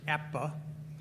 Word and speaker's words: APBA: sir uh first of all excuse me it's apba is pronounced APPA uh Steve thank you for rotisserie baseball I've